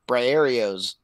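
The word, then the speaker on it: Briareos: It was really hard to remember his name for a while, but it's Briarios. Just say it like dude. I was like, say it like Cheerios.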